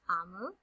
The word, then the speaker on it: Omu: A note to the reader, Omu is pronounced Amu, and it's the Igbo term for queen.